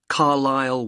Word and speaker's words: Carlisle: and your address 45 carlisle way could you spell carlyle for me sorry it's c a r l i s l e you don't pronounce the s carlisle way and that's